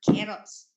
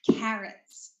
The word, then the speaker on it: carrots: Not Annie any okay carrots also not carrots or yeah overly pronouncing the a sound so it's carrots okay then notice H